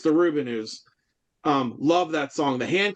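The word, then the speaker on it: The Rubinoos: I've all my life I've pronounced them the Rubinos. Rubinos. It's the Rubinos.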